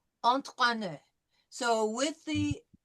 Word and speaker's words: entraîner: Okay, last time we practiced the entraîner, so we know it's entra, T followed by the French R, with an I with a circumflex over it. So entraîner.